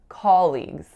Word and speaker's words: colleagues: word is colleagues colleagues so I hear two mistakes for this word one of them is a Mis articulation and one of them is a stress air but I'll tell you about both so the articulation air that I hear is that awesomed not being low back enough so I really really often hear more of off sound hair like a colleague instead of a colleague the other thing